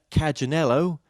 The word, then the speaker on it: Cagganello: and Patricia Kajinello, welcome to the show.